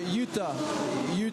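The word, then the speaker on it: Juta: Okay, Utah Racing, yeah. So that's it's Lithuanian.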